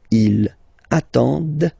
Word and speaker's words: ils attendent: And the last one, same thing, classic ending for il, elle at the plural form, ent, but then you don't pronounce them. Ils attendent, okay, so remember you get to pronounce this, d at the end, okay.